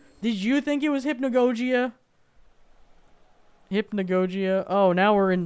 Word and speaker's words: Hypnagogia: And you pronounce it Hypnagogia.